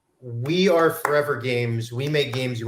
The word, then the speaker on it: ForeVR: start uh because i i wasn't sure if it was forever games or for vr because it's spelled fore and then capital vr to be punny and of course it is just forever but you are i